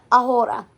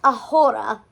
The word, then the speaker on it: ahora: Luke, it's not pronounced ahora. Man, she was mad. The class erupted in laughter. Then she added, the letter H should be like good children, seen but not heard.